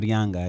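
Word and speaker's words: Gaspar Yanga: Is that how you pronounce Gaspar that? Gaspar Younga, yeah.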